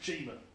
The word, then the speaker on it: Chima: They sent me a Lego Legends of Chimia, and it is pronounced Chimia. I've watched the videos now. It's not. I'm sure it's just Chima.